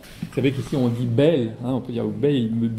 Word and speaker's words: Bayle: Moi, Bayle, moi, c'est un auteur que je prononce à la Bayle, parce que, à l'ariégeoise, parce que je suis moi-même en partie ariégeois. Vous savez qu'ici, on dit Bayle, hein, on peut dire Bayle, monsieur Bayle.